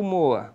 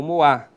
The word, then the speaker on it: Moa: Se eu pegar aqui a nascente do rio Moa, ou Moá, enfim, depende da pronúncia que você escolha, tá?